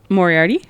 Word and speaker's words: Moriarty: Or Moriarty?